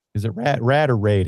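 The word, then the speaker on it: RADE: how he explained it raid is it rad or raid how I I which one um I pronounce it as RAID and that seems to be the most common way to pronounce it so so he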